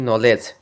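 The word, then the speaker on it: knowledge: উচ্চারণ করা হয় না সাইলেন্ট কে শব্দের শুরুতে কে এন থাকলে কে অনুচ্চিত থাকে যেমন নি নলেজ এবং সাইলেন্ট বি এমবি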